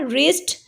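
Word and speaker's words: wrist: My mother bought a रिस्ट watch, रिस्ट में देखें W से स्टार्ट हो रहा है बट W is silent here and द फर्स्ट sound is रा, रिस्ट, सो रा इज़ a consonant, so we will use A here।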